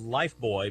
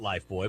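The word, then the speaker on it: Lifebuoy: didn't they kevin well we called it life boy but it was actually spelled like life buoy wasn't it um i i think i think you're right about that as i recall that it wasn't spelled b-o-y that's right i know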